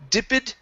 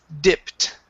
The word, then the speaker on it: dipped: right here same thing instead of dipid it's dipped try that dipped okay very